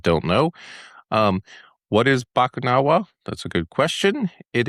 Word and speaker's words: Bakunawa: So, I'm going to have you pronounce this first. Bakunawa. Bakunawa.